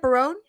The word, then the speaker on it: Barone: Barone? Yes, Barone.